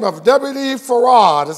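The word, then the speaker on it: Fard: individual a gentleman by the name of WD Farrar that's how you pronounce his name even though his name was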